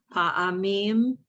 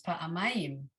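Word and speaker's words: פעמיים: Pa'amim. You left out a syllable. Pa'amim. Oh, Mhm. ma'im. There it is, pa'amayim.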